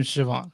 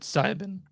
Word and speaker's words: Siobhan: By the way, it's his name Siobhan. That's how it's pronounced. That's what I said. You said Sibin.